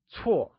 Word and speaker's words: 错: Bad translates to 错 and is pronounced using a falling tone, or the fourth tone. Let's try and say 错. It is said with a falling tone, like 错.